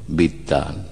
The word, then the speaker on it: বিদ্বান: আমরা যে বিদ্বান হচ্ছি সেটাও কিন্তু লেখা রূপ যেটা সেটা হলো বিদ্বান, সংস্কৃতে বিদ্বান, কিন্তু আমরা দুটো দ বলি বিদ্বান।